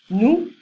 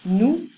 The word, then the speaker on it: nous: Nous, oui. Vous, you, formal. So I don't pronounce the S. Nous, vous.